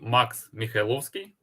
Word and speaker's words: Maksym Mykhailovskyi: You could give me what you were pronouncing your name. Sorry. Yeah, my name is Max Mikhailovsky, and I participated in development of LinkBox backlink checker, and have experience about 5 years in SEO.